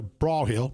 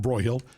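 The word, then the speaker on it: Broyhill: And then you'd go, the reps would go on out to Braw Hill, pronouncing that correctly, not Broy Hill, Braw Hill, and out to, what's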